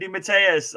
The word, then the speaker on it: DeMatteis: This is the Geeky Weekly with the old farts again, and we're joined by JM DeMatteis. I can't say it right, probably. I'll probably pronounce it wrong.